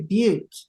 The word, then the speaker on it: Butte: Idaho how do you say that you say Butte thank you right now I know I believe